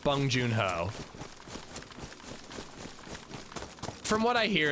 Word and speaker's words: Bong Joon-ho: It's Bong Joon-ho, dude.